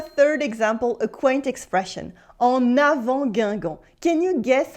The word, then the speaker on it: en avant: It's not en avant, it is en avant, because the next word, avant, starts with a vowel.